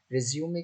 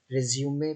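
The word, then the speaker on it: résumé: सबसे पहले हम इसको जान लें, इसको हम रिज्यूमे कहते हैं, रिज्यूम नहीं.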